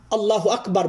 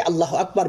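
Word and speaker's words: الله أكبر: সেরে দিয়ে পুনরায় তাকে আল্লাহ আকবার বলতে হবে। আল্লাহ আকবার উচ্চারণের ক্ষেত্রে লক্ষ্য রাখতে হবে, আল্লাহ আকবার অনেকে এখানে এইভাবে টান দেয়, এটাও হচ্ছে ভুল, কারণ অর্থের পার্থক্য হয়ে যাবে।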